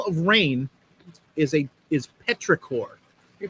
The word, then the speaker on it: petrichor: um the smell of rain is a is petrichor are you pronouncing that correctly e-e-t-r-i-c-h-o-r petrichor you learn something